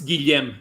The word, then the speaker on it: Guillaume: Yeah, it's Guillaume March, not Julian. Guillaume March. That's it. It's not Julian.